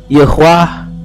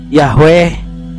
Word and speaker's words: YHWH: Pak ada yang membaca ywah ada yang membaca yahweeh ada yang membaca yihwih ada yang membaca yihwah gitu Pak bahkan ke dalam bahasa